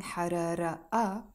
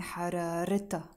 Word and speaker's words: حرارتها: But in this case, because I'm saying حرارتها, and I'm adding the a, the possessive ending, which means her, I am pronouncing the Taa Marbouta, and I'm not saying harara a, I'm saying hararita, her fever.